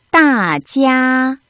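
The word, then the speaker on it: 大家: 어떻게 발음해야 되나요? 따, 사성, 찌야, 일성. 원어민 선생님의 발음을 잘 듣고 따라 발음해 보도록 하겠습니다. 大家大家大家, 大家.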